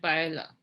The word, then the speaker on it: paella: options are tortilla and paella sorry i'm supposed to be not pronouncing the elves there's a picture pictures